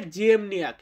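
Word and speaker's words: ziemniak: আলু আছে না, আমরা যে আলু খাই, পটেটো বলি ইংরেজিতে, তো এই আলু এটাকে বলা হয় জিয়েমনিয়াক। পোলিশ শব্দ জিয়েমনিয়াক মানে হচ্ছে আলু। আলুর পোলিশ উচ্চারণ হবে জিয়েমনিয়াক।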